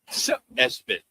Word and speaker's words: ESPN: Espen. It's called the kid Espen, but it's spelled ESPN.